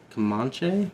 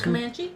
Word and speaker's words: Comanche: They then travel into Texas and spot uh a kamach Oh, kam kamanche. Is that how you say it? Drives. Comanche.